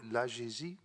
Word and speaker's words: AGESI: Et budgétaire de la réorganisation de l'AGESI. Je prononce, la prononciation est correcte? Oui. Merci, Monsieur le Président. Oui, L'AGESI voilà, est Monsieur Kuk. particulièrement bien prononcé.